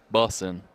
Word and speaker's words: bussin': I don't think you pronounce the G, so bussin'. Bussin'. Bussin'. Like I'm running for the bus.